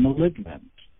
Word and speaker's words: malignant: g in it but we hear that g pronounced in malignant we help with words